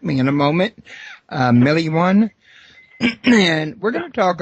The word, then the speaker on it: Milione: It's, yeah, you pronounce it Milione. Milione.